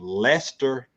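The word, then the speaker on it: Leicester: So, from Lester, England. It has a C in there, but I guess the C is silent.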